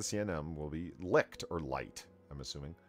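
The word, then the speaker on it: Licht: glitched or lit light i think it might just be pronounced light l-i-c-h-t that this is correct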